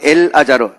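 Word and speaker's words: אלעזר: 자, 나사로라는 이야기를 히브리어로 말하면 엘 아자르, 알렙, 그 다음에 라메드 이렇게 씁니다.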